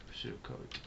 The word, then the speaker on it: pseudocode: learn pseudocode flowchart okay so this is pronounced without p because sukkot flowchart and how to